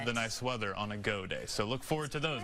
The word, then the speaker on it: Gaudet: So, it's go day. So, I say it like you're cheering. Go day.